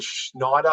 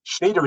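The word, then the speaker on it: Schnider: of makes sense to use the Schneider or schneer model um schneer is the correct pronunciation I say Schneider because I like to deliberately mispronounce it because everybody else does uh but it doesn't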